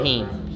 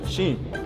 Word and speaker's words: Sheen: All right, we're gonna call you Heen, so we can cut it down. Sheen. So it's less syllables. No, Sheen. Yo.